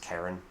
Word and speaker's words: Charon: I also do like the idea of naming something Karen, but the companion to Pluto, Charon, oftentimes is pronounced Karen, at least in American English.